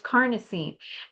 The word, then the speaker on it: carnosine: it um I know people were saying carnitine and all you know it's it's a whole bunch of different ways to pronounce it but it's carnosine and it just has so many different properties and benefits with it.